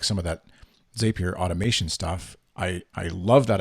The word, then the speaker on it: Zapier: you alluded to like Zapier yes. and a bunch of automation stuff, which I've always been Zapier, I don't know how you say it, but it's Zapier rhymes with happier.